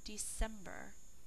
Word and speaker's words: December: month of the year december three syllables think to spell er december spell out loud with me december d e c e m b e r december c is saying before e i or y number 13 library